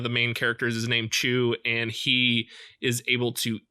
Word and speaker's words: Chu: be talking about is Chu and this is C H you now it is a continuation of qu the comic but that is spelled like chewing and it's just playing